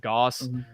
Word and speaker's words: Gauss: look up uh Gauss g-a-u-s-s or however you pronounce it Goss Goss infested speed go look